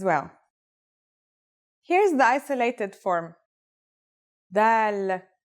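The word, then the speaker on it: دال: notebook ready let's go our first letter is dal it's just like the english d very easy to pronounce and easy to write as well here's the isolated form dal it's a single stroke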